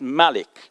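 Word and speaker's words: مَلِك: day of judgment and king would be pronounced malik with a short a so you see the malik with a short a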